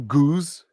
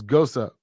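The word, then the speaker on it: gose: pronunciation of goza um it's actually goose goes no it's not guuz it's gosa i don't i don't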